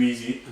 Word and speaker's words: Eze: It's a very easy, and obviously it's spelled EZE, and that's his last name.